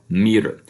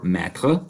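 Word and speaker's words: metre: either with the M-E-T-R-E, pronounced either meter or mètre, right?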